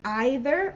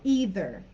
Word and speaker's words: either: of course so either so with pronunciation this can be either or either and this one is one of those that every english speaker just says it differently and there's no right or wrong and we understand them